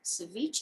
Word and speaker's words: ceviche: 9A, consider liquor license for Ceviche. Is that how you pronounce it?